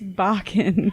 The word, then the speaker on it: Bakken: It's Bakken. It rhymes with rockin'.